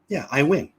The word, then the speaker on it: Iwan: Iwan. Pronounced Iwan.